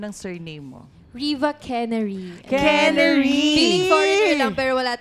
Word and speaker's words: Quenery: Quenery! Feeling foreigner lang, pero wala talaga kami lahi. Quenery. Oo, parang kulay ng kanyang blouse. Quenery yellow.